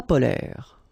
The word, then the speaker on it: polaires: So same thing here. E and S are not pronounced. Polaire, okay?